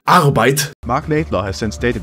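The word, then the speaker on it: Arbeit: for work by the way and it's actually pronounced arrowbite magnet law has since stated that this was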